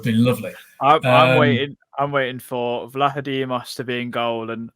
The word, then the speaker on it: Vlachodimos: So I first thought it was Vlachodimos. Then we had someone who could speak Greek message us saying actually it's Vlachodimos, I think, or something like that.